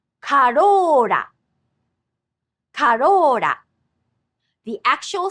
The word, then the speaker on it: Corolla: In fact, this sound written with R is actually somewhere between English L and D. For example, the Toyota Corolla in Japanese actually has this same consonant twice. Corolla, Corolla.